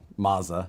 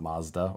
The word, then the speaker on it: Mazza: that that's funny uh tony mazza not mazda or mate tony oh tony he just said tony long a you canadian bloke to pronounce mazda and mazza he so is this he does his last name or maze it's mazza mazza so mazda he pulled